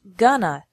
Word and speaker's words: going to: an hour remember that in spoken English going to is often pronounced gonna so these sentences would